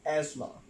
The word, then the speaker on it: asthma: The right pronunciation of that word is asthma, right?